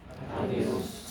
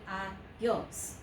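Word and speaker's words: adiós: Adios. 2 syllables only. Adios. Okay, not adios.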